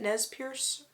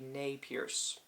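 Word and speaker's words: Nez Perce: she is Nate Pierce do they pronounce it nees Pierce or it would French it be nay Pierce whichever one it is uh nay Pierce I'm going to say she's nay Pierce writer uh these are short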